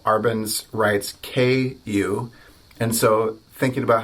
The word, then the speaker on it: ku: And so for us Americans, I think just thinking about the letter Q actually works really well. Or if you wanted to spell it out, K-I-U. And so say ku, ku, ku, ku, ku, the American way.